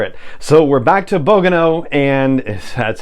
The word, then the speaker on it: Bogano: So we're back to Bogano, and that's how you say it.